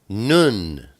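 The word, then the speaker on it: נון: Then we have the oat nun. Nun is the number 50, and it's pronounced N, like Nazareth.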